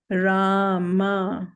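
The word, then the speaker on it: राम: Rama, long vowel A.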